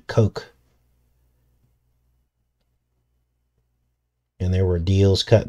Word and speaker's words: Koch: strange going on there yes coke k-o-c-h a lot of people were making fun of me because i was calling him koch at first i didn't know how to pronounce his name but it's actually coke and there were deals